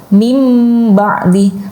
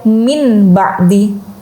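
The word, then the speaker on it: مِنْ بَعْدِ: Seperti contohnya mim ba'di. Jadi nun sukun bertemu dengan ba, ya, tapi kemudian menjadi ada huruf mimnya, mim ba'di, tidak dibaca min ba'di.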